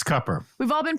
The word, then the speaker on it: Cooper: this person deliver cupper cupper he says it's cupper we've all been pronouncing it wrong it's not Cooper it's CER he says it's cupper yeah not